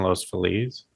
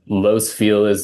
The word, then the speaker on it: Los Feliz: There's no place in LA that has more confusion over its pronunciation than Los Feliz, Los Feliz.